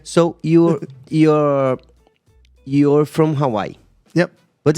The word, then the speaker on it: Hawaii: so much okay so you're you're you're from Hawaii yep but it's not the right pronunciation let's let's talk about this yeah yeah well the correct pronunciation is Hawaii Hawaii yeah because you know I said as